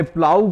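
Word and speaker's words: plough: में कम आता है यहां हमने प्लाऊ को देखा यह ग यहां भी साइलेंट होता है अर्थात इसका प्रनंसीएशन नहीं होता इसको उच्चरित नहीं करते इसी प्रकार से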